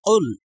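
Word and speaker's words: قُلْ: অবতীর্ণ হয়েছে কাফলাম পেশ কুল এই কাফটি গলার ভিতর থেকে উচ্চারণ হবে এবং একটু ধাক্কা দিয়ে উচ্চারণ করতে হবে তাহলে উচ্চারণ কিভাবে হবে কুল কাফ লামে পেশ উল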